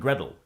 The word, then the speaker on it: Gretel: So here we should note that the T in water, as well as the T in Gretel, is generally pronounced as a glottal stop in Cockney English.